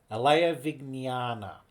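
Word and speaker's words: Ālayavijñāna: So according to the AI it is commonly pronounced as aa vignana vana. No nana nana. Okay so ala vignana ala vignana.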